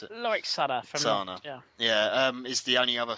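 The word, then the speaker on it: Cana: Is it Sana or Kana? I never know how to pronounce it. Lorik Sana. Sana.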